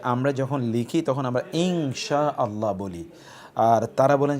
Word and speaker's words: ইনশাআল্লাহ: আমরা ইনশাআল্লাহ বলি না আমরা বলি ইনশাআল্লাহ সেজন্যে ইনশাআল্লাহ এভাবে উচ্চারণ করার জন্যে আমরা আপনাদেরকে বলব লেখার সময়ও